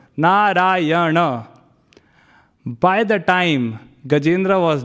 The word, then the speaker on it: Narayana: It is said that Gajendra called out Narayana, 4 syllables, Narayana.